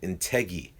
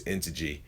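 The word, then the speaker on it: Integy: he's from Britain, and he called it Integi, and I kept on calling it Integi until I realized it's I'm saying it wrong. It's Intege, but yeah, that was one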